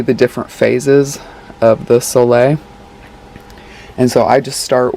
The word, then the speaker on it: sole: use when i'm balancing my electrolytes and a soleil which is spelled s-o-l-e it's basically it's just a fully